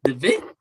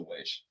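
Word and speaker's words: VVitch: But people call it the Vitch. I don't get that. It's just the way I guess they formatted the title. Like if you look at the format it's in, it's spelled out The Vitch. Right. But it's The Witch.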